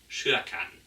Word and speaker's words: Kyrkan: Das schwedische Wort für Kirche ist zum Beispiel Kyrkan. Zwar mit K geschrieben, aber mit Sch ausgesprochen.